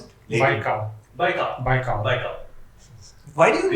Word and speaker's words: Baikal: Can we talk about Lake Baikal? Pronounce that again.